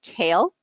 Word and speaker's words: CAEL: to Isles academic so this test is called kale it's not the vegetable it's spelled cael but it the pronunciation is the same so the kale test is accepted by